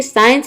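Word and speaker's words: science: तो देखिए, साइंस में एस सी को हम स प्रोनाउंस करते हैं, तभी इसको हम साइंस प्रोनाउंस करते हैं।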